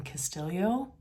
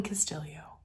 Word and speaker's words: Castillo: by Elaine Castillo hi it is revealed as you read the book that she pronounces her last name Castillo and so I wanted to correct that Elaine Castillo really good really enjoying